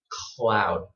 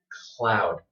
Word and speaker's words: cloud: What you want is to put your tongue, before you say k, put your tongue up. Okay, just like this. Cloud. Okay? Cloud. If you are pronouncing it correctly, the feeling in your mouth should be a little bit strange, since you have never had to make this sound before in Vietnamese.